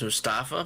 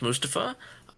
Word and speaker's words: Mustafa: here Mustafa Ali um I always thought it was Mustafa my bad but it's Mustafa um you know he's big